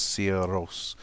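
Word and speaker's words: Sigur Rós: they are they are they're pronounced from listening to them they're pronounced sierras uh in that way so that's uh that's how i have to learn how to pronounce them um because i've been listening to them speaking about themselves anyway um allison had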